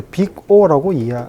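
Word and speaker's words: Big O: 요거는 이제 빅 O라고 발음을 합니다.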